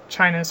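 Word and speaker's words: Qin: weapons and they built China's first CI first cities the chin see any q that you pronounce in Chinese it's chin so that CH sound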